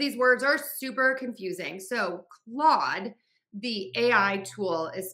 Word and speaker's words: Claude: People will say cloud instead of Claude. And I think it's because of the spelling with that AU. People think you're supposed to kind of add another sound in there.